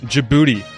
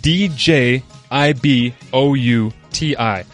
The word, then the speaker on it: Djibouti: it this way kids you don't listen to the d the d is silent and it's spelled d j i b o u t i if there's one thing